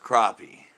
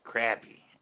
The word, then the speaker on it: crappie: our debate last night i think it's pronounced crappie i like crappie that's the way i call them but everybody else says crappy i'm like they're not crappy it's crappie we smoke them nice